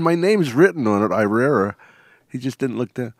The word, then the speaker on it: Irrera: How the fuck did you Why get it? And my name's written on it, Irrera.